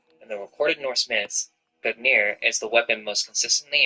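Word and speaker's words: Gungnir: Nordic, Gognir, Old Norse, Gognir swaying, pronounced Gognir, is the name of the mighty spirit that belongs to the old god Odin.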